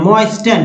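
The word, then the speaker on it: moisten: मॉइस्टन, मॉइस्टन, तो मॉइस्टन क्या पढ़ेंगे, गलत कभी भी नहीं करिएगा, क्योंकि STEN को याद रखिएगा, जिसमें टी को उच्चारण नहीं होता है।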